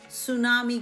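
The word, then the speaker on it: tsunami: इसको हम सुनामी नहीं कहते, इसको आपने टी साइलेंट रखना है और एस से स्टार्ट करना है, तो इसको हम सुनामी कहते हैं।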